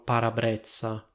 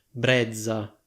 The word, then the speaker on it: parabrezza: Allora io per lo più sento che le persone dicono parabrezza, quindi questa doppia Z viene pronunciata così. In teoria, se ho capito bene, la parola brezza andrebbe pronunciata come brezza. Onestamente io ho sempre sentito dire parabrezza.